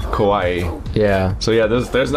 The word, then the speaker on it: Kauai: Yeah, there's the oldest island of Hawaii is called Kauai. It's spelled K-A-U-A-I. And because it's the Hawaiian language, that floating I at the end is pronounced like Kauai.